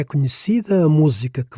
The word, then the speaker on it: música: Música. This is a proparoxytone. Stress is on the third from last syllable. So here we need the graphical accent. Otherwise it would be musica instead of música.